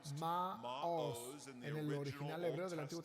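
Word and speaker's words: מָעוֹז: de las fortalezas entonces esa palabra fortalezas se pronuncia maos el original hebreo del Antiguo Testamento es una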